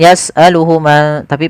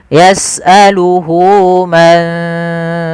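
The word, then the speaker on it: يسأله: Maka hunya di sini panjangkan. Jangan yasaluhu tapi panjangkan dulu. Di sini ada tandanya dengan wau kecil. Yasaluhu man fis samawati.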